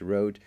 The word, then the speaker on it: RØDE: the rode anti-usb mini mic and yes it's pronounced Road there's actually a pretty funny tweet from rode